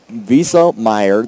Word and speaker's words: Wieselmeyer: Just remember, it is Wieselmeyer. Yes. Wieselmeyer, that it rhymes with diesel.